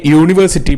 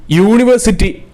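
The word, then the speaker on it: university: ഐ മെറ്റ് എ യൂണിവേഴ്സിറ്റി player എന്നാണ് ഇവിടെ ഉത്തരം വരിക. ഇവിടെ കാരണം യൂണിവേഴ്സിറ്റി ഉച്ചാരണത്തിൽ യാ ആണ്, അതുകൊണ്ട് തന്നെ എ എന്ന പദമാണ് ഇവിടെ വരുന്നത്.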